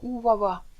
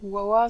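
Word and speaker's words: Huwawa: rien qu'avec son haleine ce monstre se nomme Awa alors Awa ça s'écrit Hu W A W A et part à sa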